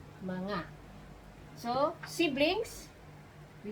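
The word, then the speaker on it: mga: the plural marker okay this one is ma ah that's how to pronounce it okay manga so siblings we say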